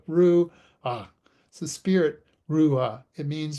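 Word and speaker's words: רוח: In Hebrew, it's pronounced ruah. Think of Ru as in Winnie the Pooh's Ru. So Ru, ah.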